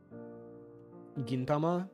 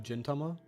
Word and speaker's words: Gintama: crisis of conscience Gintama instead of jintama I'm pronouncing it gin like the drink like tonic engine or gin and tonic also if